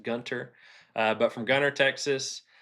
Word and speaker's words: Gunter: Uh Lee Nelson, local boy born and raised in Gunner, and that has a T in it. Um it's pronounced Gunter.